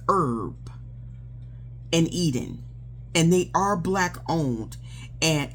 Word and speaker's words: Herb and Eden: and not Urban Eden because I almost got that confused but I'm like that's not how it's spelled on the shipping slip. It's Herb and Eden and they are blackowned and it's a husband and wife duel.